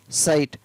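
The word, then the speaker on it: sight: आर आई जी एस टी राइट, एल आई जी एस टी लाइट, एस आई जी एस टी साइट। तो ये सारी meaning है, आपको spelling है वो साथ में याद हो गई।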